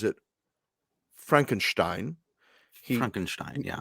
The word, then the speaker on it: Frankenstein: it pronounces it frankenstein frankenstein yeah he says it correct he says it the gene wilder way yes he's a professional